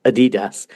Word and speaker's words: Adidas: So any American listeners, when we're talking about Adidas, the correct pronunciation, what you should be hearing is Adidas, which you very wrongly say.